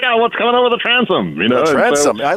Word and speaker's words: Transom: Also has a newsletter called The Transom. Am I pronouncing that correctly, Ben?